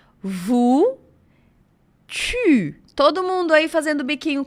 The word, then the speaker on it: tu: Vous, tu. Todo mundo aí fazendo biquinho comigo, hein? Porque a letra U é o que causa o som do biquinho em francês.